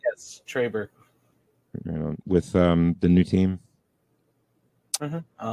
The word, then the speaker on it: Trey Burke: Yes, Trey Burke.